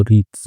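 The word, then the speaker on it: wreaths: एस लगाए तो रीथ्स, W silent होता है इसमें।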